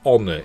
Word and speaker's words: honor: used so it's it's honor in the you know you don't pronounce that h even that's content is